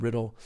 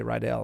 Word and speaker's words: Rydell: rydell in that riddle i thought i said it was red i said riddle throughout the whole thing and then i heard the commentator say rydell i'm like i've been saying it wrong this entire time yeah but uh rydell